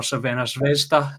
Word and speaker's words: Crvena Zvezda: They went away to Red Star Belgrade, or Crvena Zvezda, if you want to go with the Serbian pronunciation, getting the 1-1 draw.